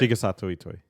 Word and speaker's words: Shigesato Itoi: Like I always think when we bring up the mother and the earth or the Shige Sato, Yeah, say it right? Shigesato Itoi.